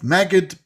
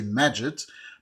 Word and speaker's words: Magid: By the way, we have Magid, Prince, and Ahmed. Magid is pronounced in the Egyptian way. The classical Arabic we say Majid, but for very funny,